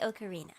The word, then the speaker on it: ocarina: Actually, it's pronounced Ocarina. What? I've never heard that. I've never heard anybody say Ocarina.